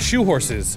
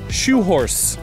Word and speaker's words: churros: Shoe horse apparently is how you say that when you're from Rio, cariocas.